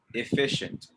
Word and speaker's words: efficient: efficient not efficient efficient usually when you see the c and the i together it makes the sh sound all right efficient repeat after me efficiently